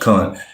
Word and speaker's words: Khan: It is noteworthy that while Khan, I know it say can, but it's pronounced Khan.